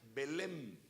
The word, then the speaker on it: Belém: Aquí le pusieron Belén, con acento en la E y N al final. No es con N al final, es con M.